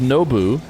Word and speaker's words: Nwpo: to describe this via text said, "Yeah, it's pronounced Nou."